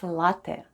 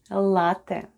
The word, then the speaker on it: ЛАТТЕ: E at the end of ЛАТТЕ /latte/ sounds like Э /e/. And all together it's ЛАТТЕ /latte/, ЛАТТЕ /latte/ There's three genders in Russian: masculine, feminine and neuter.